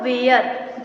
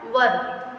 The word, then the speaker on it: were: इसको बहुत लोग, जो हमारा वर होता है WERE, इसको क्या पढ़ते हैं बहुत लोग, वेयर, जो कि गलत प्रोनाउंसिएशन होता है। इसका राइट प्रोनाउंसिएशन क्या होता है, वर।